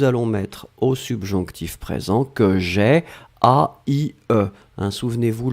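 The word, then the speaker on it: que j'aie: Donc avoir, que nous allons mettre au subjonctif présent, que j'ai, A-I-E. Hein, souvenez-vous, le E, on doit le mettre parce qu'il fait partie de la forme, même si on ne le prononce pas.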